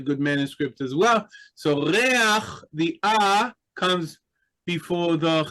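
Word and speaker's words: ריח: We have a We have kind of an auxiliary vowel that helps us pronounce the uh guttural letter at the end of the word. So, reah.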